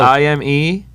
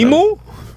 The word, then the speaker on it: Ime: I-M-E. That's his first name. And Imu? No. Ime.